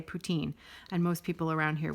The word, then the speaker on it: poutine: generally going to say putine and most people around here would say poutine but she's absolutely correct it is poutin it's a French word and that's how it's supposed to be pronounced so and you want